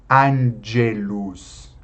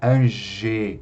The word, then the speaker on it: angelus: Diácono aqui, então, angelus. Não é ange, é angelus, angelus.